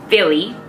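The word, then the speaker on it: Filly: Next color is going to be Philly. That's funny, Philly, but it's spelled F-I-L-L-Y instead of like Philly, the city.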